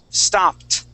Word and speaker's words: stopped: rule number one okay the sounding of T kissed stopped watched okay that is the T sound all right so I